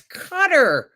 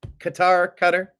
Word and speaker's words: Qatar: That's Qatar. Why aren't you pronouncing it properly? I don't know. Qatar.